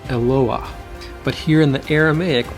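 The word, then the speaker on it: אֱלוֹהַּ: In the singular, it's pronounced Eloah.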